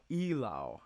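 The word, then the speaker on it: Eylau: um but um yeah e-y-l-a-u ilao i think it is and why this is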